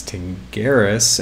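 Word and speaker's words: Tingiris: it's all working and on the pronunciation of my last name it's to Garris and there's another tutorial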